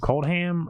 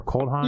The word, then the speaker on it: Kaldheim: do you say it is it cold ham or cold hot yeah for cold ham yeah don't ask us